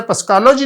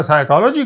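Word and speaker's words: psychology: listen कहा था इसे पस कोलॉजी नहीं कहा था साइकोलॉजी कहा था आपने देखा के यह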